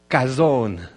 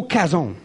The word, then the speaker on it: Chazown: Cason en fait je on le prononce avec le C qui est là mais en français il n'y a pas d'équivalent dans la langue française pour cette lettre là c'est un mélange de C et de r ok parce que la